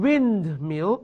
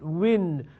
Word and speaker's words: windmill: then we have a windmill ออกเสียงเป็น wind no wind นะ wind ออกเสียง wind Thai people ชอบพูด wine no it's windmill แล้วก็ลอลิงด้วย a flat or